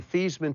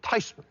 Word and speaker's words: Theismann: I said Graham they want to change the pronunciation of our last name from thasan to thyman how do you feel about it she says well you know the correct pronunciation is actually tyman so that seems to be a bit closer